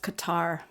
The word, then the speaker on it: Qatar: excellent but i heard qatar and uh cater oh so can you say it both ways it's just qatar burke stepped in